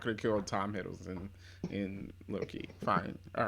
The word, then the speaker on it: Hiddleston: Hiddleston. Yeah, you're just saying it Hiddleston. weird. Like you're saying it's the right name. Hilderson.